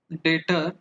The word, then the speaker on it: debtor: नाउ चलो अब आपको डेटर और क्रेडिटर देखना। डेटर का स्पेलिंग DBTOR है, क्रेडिटर का स्पेलिंग ये है, बी साइलेंट है।